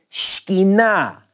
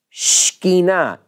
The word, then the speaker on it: Shekinah: We say it in the South with three syllables. We do this to a lot of two-syllable words. In Hebrew, it's really Shekinah. Shekinah. S-H-K-N-E-E is the first syllable. It's really not two syllables.